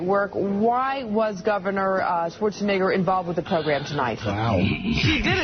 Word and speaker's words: Schwarzenegger: I mean, it's obviously an E, not an I. Schwarzenegger.